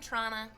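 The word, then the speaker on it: Toronto: and I've lived in toron that's how you say it guys do you do not pronounce the second T not pronounce the second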